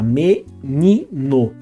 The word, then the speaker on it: menino: Se a gente for separar a palavra, então fica menino. Qual que é a sílaba tônica dessa palavra? É ni. Então, a vogal tônica de menino é o i.